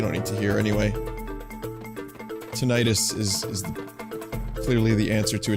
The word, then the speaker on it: tinnitus: Tinnitus is clearly the answer to eternal life. Or as I've heard it pronounced on a few occasions, tinnitus.